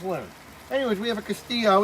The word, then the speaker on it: castillo: j castillo it's a castillo i learned that you're supposed to keep the two l's when they're together silence more like a y that's what i just learned anyways we have a castillo it's a nice red